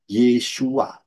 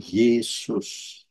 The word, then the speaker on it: Yeshua: pintu keselamatan harus melalui Yod Shin wau Ayin bacanya yesua bukan Yesus itu sangat jelas ya dan